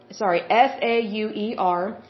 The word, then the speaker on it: Sauer: I'm not sure how to pronounce it. It's Sauer.